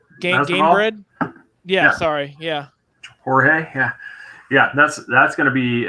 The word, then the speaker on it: Jorge: I'm gonna say his name wrong. What is it like? Georgie something. That Jorge. Gamebred. Yeah, sorry. Yeah. Jorge.